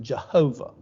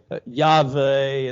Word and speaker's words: Yahweh: God's name, yes, under a great debate, but God's name by a tremendous amount of Hebrew scholars is, while we pronounce it Jehovah, is actually Yahweh, and then the Tetragrammaton,